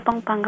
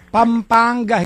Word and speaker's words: Pampanga: sa ano kasi taga pampangga po talaga Kami Pampanga hindi pampangga Walang ganon Oo okay say it